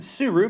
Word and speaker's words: Tsuru: but today shrine maiden suru because the t is silent and in a world